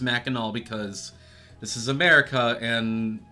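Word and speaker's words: Mackinac: Uh I went to Meno City, and yes, I know it says Minac, but it's actually pronounced Menel because this is America and none of our makes sense.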